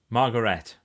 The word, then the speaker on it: Margaret: Margaret is pronounced Margaret.